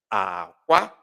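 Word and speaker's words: akwa: And the pronunciation is aqua, aqua, low, high, ala, elu, aqua, aqua.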